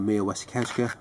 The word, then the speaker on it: Mia Wasikowska: One of Mia Wasikowska, that's how you pronounce the name.